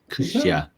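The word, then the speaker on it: кутя: He said kutia, or it's probably pronounced flibdibdif or something, because you're funny with your pronunciations. What is it? Kutia. Kutya.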